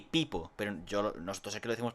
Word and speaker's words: Peepo: Por eso dos es se pronuncia como una I, Peepo. Pero nosotros aquí lo decimos Pepo, pero allí en inglés es Peepo.